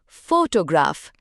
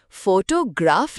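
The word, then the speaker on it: photograph: इसमें स्ट्रेस यानी जोर पहले सिलेबल पर है। फोटोग्राफ। हम फोटोग्राफ नहीं कहते। जोर शुरू में है।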